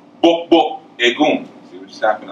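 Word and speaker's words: gbogbo: It's spelled G-B-O-G-B-O. So whenever you see the G, it's a hard "bok."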